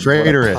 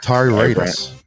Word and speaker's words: Tyrannus: Traitorous. Todd. You say it wrong every week. Traitorous? Sorry, I got my sunglasses on still. Darth Tyrannus.